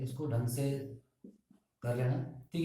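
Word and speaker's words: sec: एंड सिक्स वन इज सीकेंट, जिसे हम बोलते हैं सेक।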